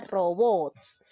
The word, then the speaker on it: robots: se tilda por ejemplo la palabra robots nos damos cuenta que esta palabra lleva la mayor fuerza de voz en la última sílaba es decir en la sílaba bots está terminando en ese